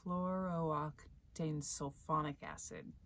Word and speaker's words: perfluorooctanesulfonic acid: Okay, Jessica, tell me how to pronounce it. Perfluorooctanoic acid. Perfluorooctanesulfonic acid.